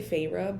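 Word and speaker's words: Feyre: I want to say Farah, but I think it's Farah.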